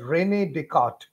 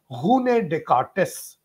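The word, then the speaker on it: René Descartes: talk of this uh person in general people pronounce it as Renee decart but the original French pronunciation is Hun decartes so it is written as rainy but we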